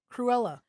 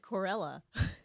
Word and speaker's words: Cruella: pronounce that again? Cruella. What did you say the first time? Cruella? Sound like you said Corella.